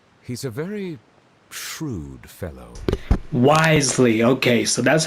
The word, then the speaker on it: Wriothesley: the Fortress Risley he's a very shrewd fellow wisely okay so that's how you pronounce his name wisely got it yeah we heard about him too